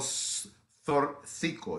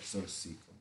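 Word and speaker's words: Zortzico: And this is a piece called Zorcico. It's spelled Z like zebra, O, R, T like Thomas, Z like zebra, I, C, O.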